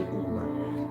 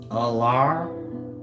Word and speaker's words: Ullr: How do you think they would have pronounced it? Alar, meaning U-L-L, and the R being pronounced out R? Or do you think it was pronounced how we want it to be? Uller, Uller. French sounding, exotic, Uller. Like that. It's pronounced how I said, Alar.